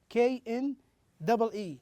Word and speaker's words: knee: K-N-E-E. Notice here, K is silent.